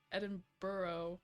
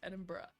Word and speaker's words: Edinburgh: the funniest thing was learning that it isn't Edinburgh or anything like that. It's Edinburgh, you know?